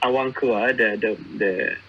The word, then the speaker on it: Awangku: right, the Awangku bit, I hate when when people mispronounce it. Like this is always a common thing. They would pronounce it as it's Awankua, the pronunciation, but they would say it as a.